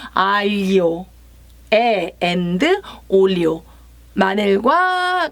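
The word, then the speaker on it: aglio: 알리오 올리오, 알리오, 아글리오를 읽으시면 안 되고요. 마늘이 알리오. 저도 잘 안 되는 발음인데 사실은 아글이 아니고 알리오, and 올리오.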